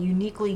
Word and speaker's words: Youniquely: Okay, and it's called Uniquely You. No, just uniquely. Uniquely. And it's spelled YOUNIQUELY.